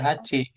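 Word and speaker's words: 八: Bacanya apa? Delapan. H. Hach ya. Iya. Hachi. Kalau yang yatsu itu untuk nyebut benda. Del. Heeh. He delapan. Ada delapan buah gitu maksudnya.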